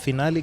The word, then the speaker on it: Finali: So you have to pronounce Galaiya. yours. Finali Galaiya.